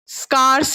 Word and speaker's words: scarce: Okay ठीक है, जल्दी बताओ क्या है प्रोनाउंसिएशन? SCARCE। स्कार्स है, स्कार्स, स्कार्स मतलब कमी।